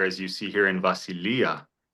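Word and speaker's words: βασιλεία: Vasilia. Okay, super close. Where is the stressor? On the iota at the end.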